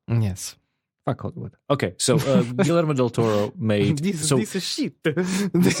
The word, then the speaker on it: Guillermo del Toro: Am I pronouncing it still wrong? Guillermo del Toro.